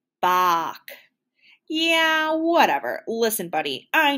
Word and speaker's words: Bach: of all time ah batch great to see you uh my name is pronounced bach yeah whatever listen buddy